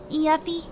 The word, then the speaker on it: Yuffie: Yuffie? Say it right. Yuffie. Correctly? Yuffie. Right. Yuffie. That's better.